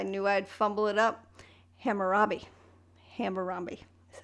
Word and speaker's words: Hammurabi: Hammurabi is how it's pronounced.